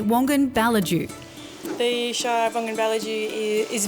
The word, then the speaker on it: Wongan-Ballidu: Stop rushing, escape the hustle and bustle and get busy living in the Shire of Wongan-Ballidu, or as the locals say, Wongan-Ballidu.